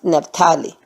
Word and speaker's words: Naphtali: lineage of Zebulun and Naphtali. Okay? Naphtali. That's Zebulun and Naphtali. That's how it's pronounced.